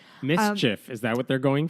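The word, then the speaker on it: MSCHF: based creative label called I believe it's pronounced Mischief it's Capital Ms C HF which God I cannot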